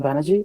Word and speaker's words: Banerjee: on your podcast um my name is Banerjee I'm the CTO and co-founder at Czech not pronounced as Shakti which some people do and